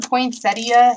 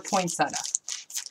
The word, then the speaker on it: poinsettia: you guys pronounce them poinsettia or poinsetta so I've always pronounced it poinsetta but it's actually like if you were to you know say it like it's spelled there's that extra I the a okay now